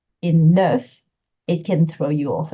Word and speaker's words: neuf: letter H, like heure, it's actually going to soften the F into a V sound.